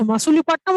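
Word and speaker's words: Masulipatnam: এটা আছে, মাসুলিপাটনাম আর মাছলিপাটনাম একই, ঠিক আছে। আনসার ইজ ডি, মাছলিপাটনাম বা মাসুলিপাটনাম, নানাভাবে প্রোনাউন্স করা যেত।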